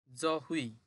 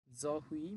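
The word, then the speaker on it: 저희: এটা এক সংযুক্ত স্বরবর্ণ, উই, উচ্চারণ হবে হুই। জহুই, জহুই মানে হচ্ছে আমাদের।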